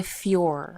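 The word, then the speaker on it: Fjölnir: f you isn't it no because it's not an l it's a j yeah so they say fjor i thought it's filior because it's like an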